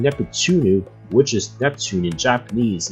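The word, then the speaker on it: ネプテューヌ: However, for the character Neptune in the franchise, her name in Japanese is pronounced Neptunu, which is much easier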